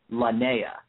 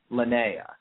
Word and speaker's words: Lanaia: n a i a and apparently it is pronounced lanaa lanaa I believe I believe so too thank you very much for coming on lanaa and definitely check some of that stuff out